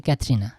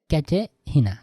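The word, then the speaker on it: Katharina: মেয়েদেরকে খুব পরিচিত বলতে ক্যাতেহিনা, হয়তো ইংরেজি উচ্চারণটা হচ্ছে ক্যাথরিনা, কিন্তু জার্মানি বলা হয় ক্যাটেহিনা, ক্যাটেহিনা, ক্যাটেহিনা।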